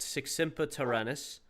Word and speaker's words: Sic semper tyrannis: I am the stream title is pronounced sex tyrannis.